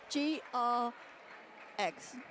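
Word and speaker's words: Greggs: Rhymes with legs. GR eggs.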